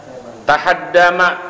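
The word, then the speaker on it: تهدم: Faqala, kemudian berkata siapa A'rabi, ya Rasulullah, tahaddama atau bacanya, tahaddama, rubuh apa albina'u, bangunan-bangunan kami.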